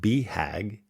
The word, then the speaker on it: BHAG: Alan's 40 years of cycling experience culminated in 2022 when he attempted his Big Hairy Audacious Goal, pronounced BHAG, a ride across America.